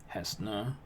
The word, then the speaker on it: Hesna: It's going to have an accent on the E. Hesna.